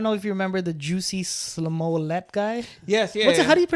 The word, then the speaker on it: Jussie: I don't know if you remember the Jussie Smollett guy. Yes, yeah. What's it, how do you pronounce his name? Jussie.